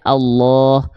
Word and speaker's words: Allah: Keadaan yang tebal itu mengharuskan lam dibaca condong pada vokal O. Makanya kita baca Allah, Masya Allah.